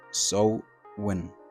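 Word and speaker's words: Samhain: the Celtic people celebrated a day called sewing pronounced so when but spelled Sam hey it was an established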